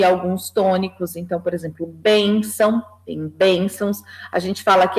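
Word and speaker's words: bênção: a tua no porque a sílaba forte não é que a gente tem ao sol nasal mas sim a sílaba anterior que é bem então você que Tá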